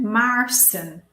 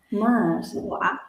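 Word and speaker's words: Maarssen: En Maarsen. Maarsen. Ja. Maarsen. Pronunciation is long. Maarsen.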